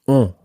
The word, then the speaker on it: ont: And that's spelled O-N-T. On. Ont. Ils ont. Ils ont. And make sure that you sort of make that an on sound as opposed to an en sound.